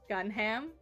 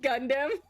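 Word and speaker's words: Gundham: Gunham? Gunham? It's pronounced Gundam.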